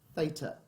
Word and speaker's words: theta: And it's pronounced theta.